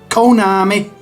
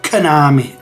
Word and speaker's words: Konami: it now to me there's only two ways you can really spell it uh say this cone army or Konami you know like a like a lazy way of saying it I I've always said Konami lazily pronouncing the O as an e or an A really Konami but yeah I mean if you're to pronounce it um better then it would be Konami um yeah I cannot